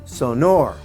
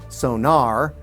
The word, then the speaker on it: Sonor: German pronunciation meaning the way that they would pronounce it over there is sonor sonor accent is on the second syllable now a close variant that works for them is sonor sonor where the accent is on the first syllable other variants like Sor or sonar as in locating objects underwater is slightly Off the Mark but they likely wouldn't say anything Bart told me to